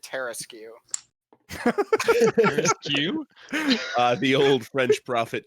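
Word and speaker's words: Tarrasque: Tarask? I always pronounced it Terraskew.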